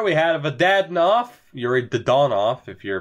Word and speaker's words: Dadonov: of a player we had aad off Yuri dadonov if you're pronouncing it properly but I me come on it's YouTube you got to say Dad off right you have to we have a couple